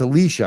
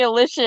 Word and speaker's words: Alicia: And we're talking, and it's Alicia. I'm saying it right, right? You got it right the first time. Thank you. Alicia, thank you. Everybody calls me Alicia, and it's a bad.